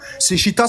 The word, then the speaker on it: Seshita: Seshita, ça s'écrit S-E-S-H-E-T-A. Keri comme Keri James.